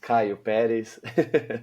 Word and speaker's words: Caio Peres: So, my name is like rightly pronounced Caillopis.